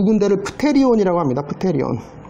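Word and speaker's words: pterion: 프테리온. 테리온, 보통 P는 영어에서는 묵음되니까 이제 테리온이죠.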